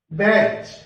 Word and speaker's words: batch: BATCH, इसको बोलेंगे बैच, मतलब T साइलेंट रहेगा इसमें, बैच, इसमें T